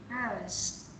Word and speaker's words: hours: This is silent H. Hours.